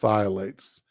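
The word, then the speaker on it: phthalates: harmful whatever violates Pilates I think that's pronounced just thiolates the pH being silent Consumer Reports called n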